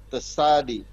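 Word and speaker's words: צדי: Enggak, TS, dibaca TS. Tesadi. TS dia.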